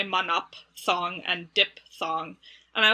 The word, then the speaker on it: phthong: guess in like so like thong in ancient greek would be more like patong which even people who study ancient greek don't actually pronounce things that way because as english speakers it's really hard for us anyway so that's don't